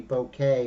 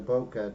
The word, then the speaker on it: bokeh: Wendy says she loves the blur, you know, the bouquet or the bokeh, depending on, you know, how you say it.